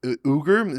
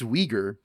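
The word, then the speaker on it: Uyghur: Since the day America left Afghanistan in the hands of the Taliban, China has fa interesting way he pronounced Uger. It's weaguer, isn't it?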